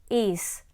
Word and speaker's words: is: For instance, after teaching has, you can explain his, is, as. They all follow the same pattern of being spelled with an S at the end but pronounced with a Z sound.